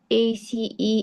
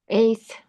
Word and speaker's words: ACE: AC inhibitor. inhibitor. You can uh pronounce it ACE inhibitors. ACE Uhhuh.